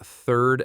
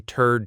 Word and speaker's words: third: third attempt at something, you want to clearly say, this is my third try, not this is my turd try. Big difference there in meaning and image. Definitely a difference. So remember that th for third. Practice it slowly, feeling that tongue placement.